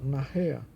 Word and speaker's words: nachher: Nós temos nach, a sílaba mais forte, na irrea, esse H aqui é aspirado, né? Nachher. E tem então, quando o H é aspirado, ele tem som de RR, né?